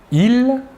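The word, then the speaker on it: ils: Tout d'abord, le masculin, « il », la S finale ne se prononce pas.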